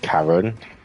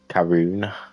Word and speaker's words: Karun: I like Karen. Karun Karun Chandok. I can never say his name right.